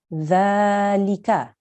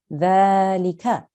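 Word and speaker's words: ذٰلِكَ: are doing your recitation, this is how you pronounce it, dhalika. But if you have to make a pause, you will pronounce it like this, dhalik.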